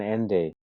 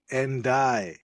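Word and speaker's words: Ndiaye: Endai. Yes, I'm sorry. Today was a terrible day for my pronunciation. Ende, NDA. It's like Endai and like die.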